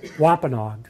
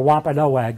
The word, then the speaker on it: Wampanoag: King Philip was a whoppin hog so or Wampanoag it's pronounced either way and does anybody remember